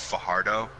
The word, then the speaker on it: Fajardo: so it's a complete it's a completely soft J it's not just like a slur J it's Fajardo so he's a fuc